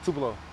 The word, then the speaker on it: Tupelo: Can you pronounce the name of the town again? Tupelo.